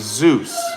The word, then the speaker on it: Zeus: so let's just say everybody watching to the 100 or so people like you wanted to give Zeus a cast compliment.